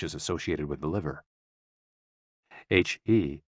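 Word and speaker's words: 呵: HE, pronounced like her, with a yawn, which is associated with the heart.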